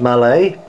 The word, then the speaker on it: Mallet: So there she is, that's the 2662, the Mallet, pronounced Mallet.